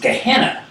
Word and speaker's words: Gehenna: Valentina but in Greek that valley phenom is pronounced Gehenna Gehenna is what Jesus made reference to repeatedly in